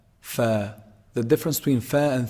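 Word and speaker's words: ف: Fa is actually pronounced from, combining the edge of the upper incisors when they hit down on the inside part of the lower lip. The inside part of the lower lip. Fa, fa, fa.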